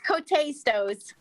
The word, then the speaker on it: Coates: To recommend the appointment of Coates. Am I pronouncing it right? Coates? To the Council on Aging. Go ahead, say it. It's Cote-Stos. Thank you, Cote-Stos, to the